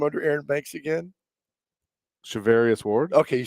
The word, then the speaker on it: Charvarius: Charvarius Ward.